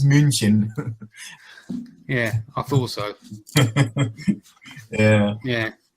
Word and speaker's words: München: Over in Germany, do they pronounce it Munich or München? Yeah, in German it's München.